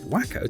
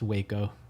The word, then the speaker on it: Waco: also a pharmacist Charles alderton a resident of wacko Texas when he invented his you said wacko Texas which I could understand uh because of the way it's spelled but it's actually pronounced Waco Waco Texas not wacko and I believe Dr